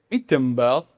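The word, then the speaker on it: Wittenberg: 2 años después, en 1517, él clavó las 95 tesis en la catedral de Itenbell, como se dice en alemán.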